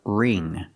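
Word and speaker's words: wring: remove the water pronunciation the W is silent so we use the R sound r r ring the ing makes the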